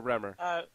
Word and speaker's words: Remor: Remor or Remor?